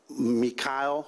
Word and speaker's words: Meechaiel: As a result of this, we've identified a suspect named Meechaiel is the way he pronounces it, spelled M as in Mary, E-E-C-H-A-I-E-L.